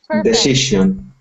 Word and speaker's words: decision: Decision. Decision. That's that is sound again. Not to see, but decision. Decision. Decision. Decision. Good. And when you see that decision, s i o n sounds like shun.